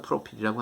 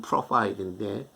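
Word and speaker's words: profile: 그런데 겉에 이마에는 프로페어, 그냥 프로파일이라고 하는 게 이제 우리 한국 사람 프로필이라고 하는데 그 미국의 그 발음은 프로파일인데 나오죠. 어디 졸업하고 어디 출신이고 뭐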